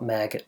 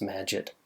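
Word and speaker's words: Magit: like to call it maggot because I think it's kind of cool but it's probably pronounced magic or something that rhymes with magic it is really nice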